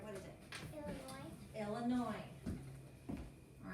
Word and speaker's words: Illinois: right what is it illinois illinois all right illinois is a little bit tricky because that last letter is silent all right after you